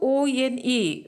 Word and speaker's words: one: Even though O-N-E, the word O-N-E, even though it begins with a vowel O, but when we are pronouncing it one, it has the sound of a consonant, that is wo, one.